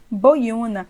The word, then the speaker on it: boiuna: Boiuna, boi-una. O U está sozinho na sílaba tônica, forme hiato com a anterior.